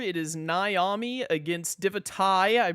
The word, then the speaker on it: Divitae: I mispronounced their name as Divitae before because when I see T-A-E, I always think Tay, but it is Divitae, which I will be endeavoring to say correctly throughout this video.